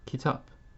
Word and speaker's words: kitap: So note, at the end of a word, at the end it takes this sound. And one example I have for you is the word kitap. K-I-T-A-P. It is spelled in Arabic as kitab.